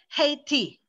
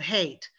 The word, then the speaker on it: hate: favorite clue true blue but a lot of my brazilian students add that e as like an extra syllable a lot of my brazilian students so they'll say like um they'll say like hey t instead of hate you know gay me instead of game they're trying to pronounce